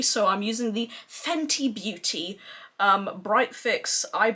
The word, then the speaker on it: Fenty: gonna be using the fenny beauty fanny beauty oh my god with my accent tees are hard to pronounce i have to like actively try to pronounce the t so i'm using the fenty beauty um bright fix